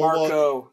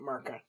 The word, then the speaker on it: Marco: Marco, not Marca. I said Marco.